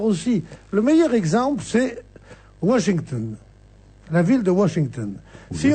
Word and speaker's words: Washington: du siècle, la rue Vachinton, c'est ridicule aussi. Donc il faut dire Washington. Sans trop marquer l'accent anglais, mais un peu de prononciation anglaise.